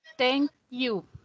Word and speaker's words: thank you: Thank you. You too. Yes, thank you. Recuerden conectar la K con la I.